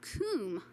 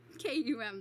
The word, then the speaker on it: KUM: automatic Long Point sharpener pronounced Kum okay I'm still going to do KU kuum though I'll be incorrect um the Kum automatic